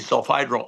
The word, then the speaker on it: sulfhydryl: It has a sticky sulfhydryl arm, is the right way to say it.